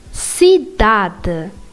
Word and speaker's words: cidade: Now, C with E or I is pronounced as S. For example, céu. It's not céu, it's céu. Or cidade.